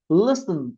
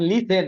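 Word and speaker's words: listen: উচ্চারণ একবার বলে ফেলেন বলেন লিসেন নট লিথন লিথন না কিন্তু বলেন লিসেন লিসেন to music music solve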